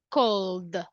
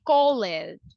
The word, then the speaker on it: called: perfect if you see the last sound is L so we have vibration so the Ed will be pronounced as the cold cold we don't say call it we say cold pretty good how about